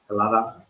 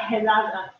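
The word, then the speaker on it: Ελλάδα: Hellada. Not Helada. Helada, but it's Hellas, Hellada.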